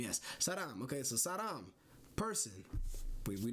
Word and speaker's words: 사람: 사랑. Wait, 사람. Right? Saram. That's an M. Yes. Saram.